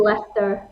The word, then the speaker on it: Leicester: She's called Lester.